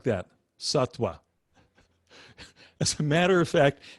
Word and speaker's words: sattva: pronounced the same way satwa satwa so it's s-a-t-t and you'll see it's spelled v as in victor v a but that the v is pronounced it's more like a w or it's actually like